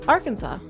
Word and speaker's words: Arkansas: yep Arkansas got its name from French settlers the word Arkansas is pronounced with a silent S at the end it is also against